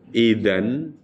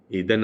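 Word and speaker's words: إذًا: Cara menerjemahkan, sungguh jika engkau mengikuti keinginan-keinginan mereka sesudah ilmu datang kepadamu, idan, maka atau jadi, idan artinya apa? Jadi itu bacanya bukan ida ya Bu, tapi idan.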